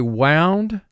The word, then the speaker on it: wound: meaning you can say wound as in he is all wound up and you could also say wound as in the soldier received a wound and obviously these words mean different things but they're spelled the